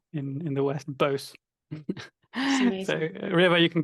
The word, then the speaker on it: Bose: And we say Bose. In English, it's spelled Bose. It's said Bose. In Bengali, you might say Basu, which you may or not know.